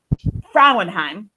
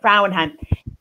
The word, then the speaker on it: Frauenheim: Very excited today to have Ed Frauenheim. Did I say it right? Yep. Frauenheim.